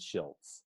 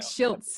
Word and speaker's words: Schiltz: just now I thought it was slits always pronounce that I didn't and now I see how it is shilts yeah it's like shilts in and so it's like always a telemarketer